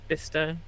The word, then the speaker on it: Bicester: goes through lemington Spa bister banry yeah B which is Bicester for Americans yet another name that is not spelled how it's pronounced well the cers never